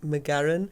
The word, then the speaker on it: Magarin: Um if I my surname I do pronounce it McGarin just because it sounds more Scottish but that also then